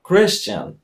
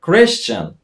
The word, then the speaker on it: Christian: Właśnie poprawna wymowa jego imienia to Christian. Nie Christian Bale, to tak trochę po polsku brzmi. W Ameryce mówią Christian.